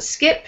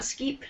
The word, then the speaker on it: skip: And be careful, skip and not skeep.